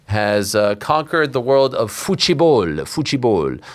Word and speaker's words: futebol: Spain has conquered the world of futebol. I like to say it like the Portuguese do. They say futebol.